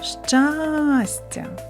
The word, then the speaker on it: щастя: складів скільки голосних звуків визначимо куди падає наголос покличемо щастя щастя наголос падає на перший звук а А зараз Спробуй